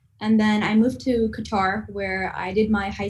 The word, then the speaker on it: Qatar: What are you doing in Qatar?